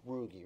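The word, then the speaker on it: Ruge: was that several months pronounced rugie right it was Dan rugi right yeah okay um is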